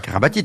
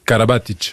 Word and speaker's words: Karabatic: et carabatic ou kabatic donc on dit euh kabatic normalement si on le prononce vraiment c'est Karabatic mais ça tombe bien c'est